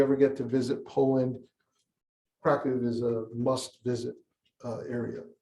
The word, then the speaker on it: Kraków: Our story starts in, I pronounce it Kraków. That's the way Polish people pronounce it. Americans would say Krakow, Poland.